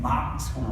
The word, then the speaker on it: Moncks Corner: And Moncks Corner, that's how people say it, Moncks Corner.